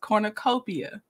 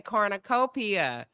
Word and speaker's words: cornucopia: what did I say you almost had you just put an EMP emphasis on the p you said cornicopia so you still were pronouncing it you just put an emphasis on the wrong syllable that's all what's the